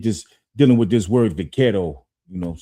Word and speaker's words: vaquero: The traditional cowboy look arose from Mexican vaqueros, and the word buckaroo came about as a mispronunciation of the word vaquero.